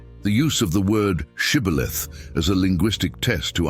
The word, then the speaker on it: Shibboleth: If he replied, "No," they then asked him to say the word Shibboleth. If he said Sibboleth, because he could not pronounce it correctly, they seized him and killed him at the fords of the Jordan.